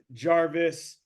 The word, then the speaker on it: Garvis: We are joined today all the way from Iowa by Jarvis, soft G like giraffe.